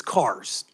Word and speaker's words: Carrere: Plans, it's CARS, just like CAR.